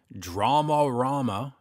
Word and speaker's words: Dramarama: joining me on the phone from the band dramarama and we did have a discussion about how to pronounce that with a singer John EES Dale I always say dramarama just my very sort of hick Canadian way